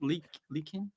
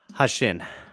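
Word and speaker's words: Heqin: Malikin? Hashin.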